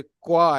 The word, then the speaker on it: quoi: क्वा प्रोनाउंसिएशन बिल्कुल bottom slide पे अगर आप देखें तो प्रोनाउंसिएशन है इसका, साउंड्स लाइक क्वा, क्वा, क्वा, साउंड्स लाइक क्वा।